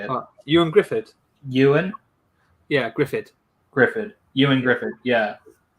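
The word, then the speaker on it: Ioan Gruffudd: Ewan Griffith.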